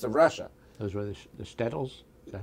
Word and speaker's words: shtetls: Those were the shtetls?